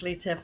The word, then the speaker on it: Letair: So now I'll pass over to Letair to tell you more about the story. Talofa. My name is Letair. Letair, pronounced Lee like Bruce Lee, and tear a piece of paper.